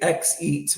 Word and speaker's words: YEET: Am I saying it correctly? Yeah, you're saying it correctly. YEET. Yeah. Although I've seen some people say XEAT, which I think is funny too. There's some, you can play it both ways, but YEET is how we pronounce it.